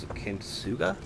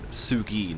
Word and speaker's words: Kintsugi: I quite like the Ceramic Jackal, the Kintsuga? I'm gonna butcher the name for a few days before I... Sugi, not Suga.